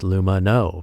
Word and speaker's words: Lumineux: That's why their name is pronounced Lumino, because it has no